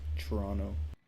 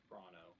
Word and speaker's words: Toronto: So, unless you're in Ontario or Toronto or whatever, I believe it's pronounced Toronto, kind of like churro. Well, you can't pronounce the the second T, so it's Toronto. Toronto.